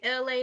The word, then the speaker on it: Elay: This is me, LA. Pronounced like LA, not like the city.